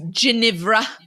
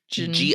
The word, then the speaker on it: Ginevra: She thought he was Ginevra.